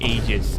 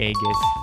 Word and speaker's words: Aigis: And no, it's not Aegis. I pronounced it like that for a while, but it's actually Aegis.